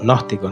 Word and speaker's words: gnóstico: Ese es un término que se escribe, primero se comienza con una G, la G, y después uno escribe gnóstico, N-O-S, pues tiene una G adelante, una G que no se pronuncia, ¿no?